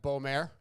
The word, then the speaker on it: Beaumer: nickname yeah okay and did I say it right Beau mayor yeah perfect we were discussing that